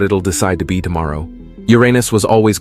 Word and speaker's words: Uranus: For the record, NASA says it's actually pronounced Uranus, but no word on how many NASA scientists even say it that way.